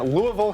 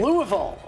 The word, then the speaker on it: Louisville: We are in Louisville, Kentucky. Louisville.